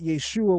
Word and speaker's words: Yeshua: The Aramaic dialects of the period preserve the same structure, pronouncing it Yeshua with the final guttural ain, often soften or silent in speech.